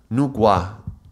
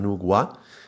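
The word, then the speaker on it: Nüwa: I think it's pronounced Nugua, but it's written Wa with W.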